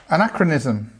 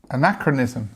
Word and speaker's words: anachronism: what do these words mean yes you're correct anachronism anachronism okay so again because we have this uh stress on the second syllable we have this schah this sound here so anachronism anachronism excuse me what does it mean it